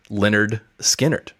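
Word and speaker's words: Lynyrd Skynyrd: next week's album shall be the band is Leonard skinnard the album is called pronounced Leonard skinnard oh nice you know what's funny is that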